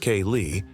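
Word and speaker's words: céilí: If you're lucky, you may even find a pub hosting a traditional event like si, pronounced kay, a traditional Irish dance night where everyone joins in for some fun.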